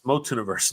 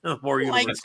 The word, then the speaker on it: MOTUniverse: It's It's Motuniverse, not Mortun. More universe. Scoob. It's not spelled with an R.